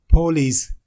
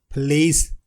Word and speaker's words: police: Many people pronounce it as police. It isn't police, it is police.